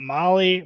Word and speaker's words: Mahle: Again, Molly is spelled Mahle.